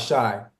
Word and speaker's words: Shai: his name right sh okay I'm talking about Shai hey remember the group Shai If I Ever